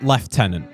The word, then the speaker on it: lieutenant: One that doesn't particularly aggravate me is the word left tenant. Now, left tenant is how we say it in English because for whatever reason, but the Americans say it how it's spelled, blue tenant.